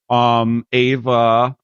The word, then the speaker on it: EHVA: EHVA, the name is spelled AVA, is a great name for a lot of reasons.